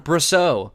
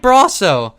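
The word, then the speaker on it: Brosseau: Chapman we all remember why is every dang host on WFAN calling him brusso all the callers Mike bro Mike bro it's Mike bro he ended your season learn how to pronounce his name correctly and I don't know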